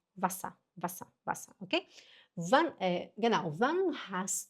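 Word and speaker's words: Wasser: Se você falar vassa, a pessoa vai te entender. Mas tá errado. É vassá.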